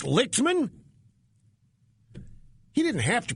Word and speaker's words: Lichtman: Okay, it's Alan Lichtman. I'm sorry. Professor Alan Lichtman. I did not mean to mispronounce the name. I just saw it and I said it would be pronounced Lightman. But hey...